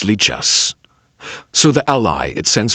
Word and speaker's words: Lichess: Like if you Google, let's see if I can find it, how to pronounce. Yeah. Lichess.